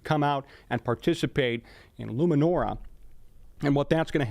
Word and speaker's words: Luminora: It is called Luminora. Luminora. A couple of people have asked about that pronunciation.